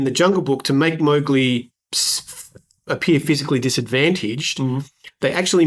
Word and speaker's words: Mowgli: Disney's preferred, and I think you may have similar note, Disney's preferred pronunciation of the boy's name is Mowgli. Rudyard Kipling himself said it should rhyme with cow, so it should be Mowgli.